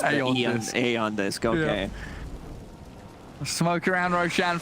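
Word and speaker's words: Aeon Disk: Yeah, Eon 730, Eon Disc removed from the game, Eon Disc pronounced Aeon Disc.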